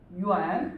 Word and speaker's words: 元: Or you can also say 一元, okay, so this word is pronounced as 元, okay, 一元.